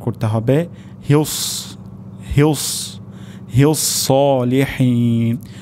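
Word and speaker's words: الصالحين: তাহলে আমাদের এখানে সদ উচ্চারণ করতে হবে হিউস, হিউস, হিউস সলিহিন। শেষের দিকে হা উচ্চারণ হবে সলিহিন, হা হবে না, সলিহিন এটিও গলার মাঝখান থেকে উচ্চারণ হবে।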